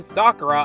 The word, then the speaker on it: Sakura: And yes, I'm pronouncing her name Sakura unlike the super 4 Kids way the show pronounces it.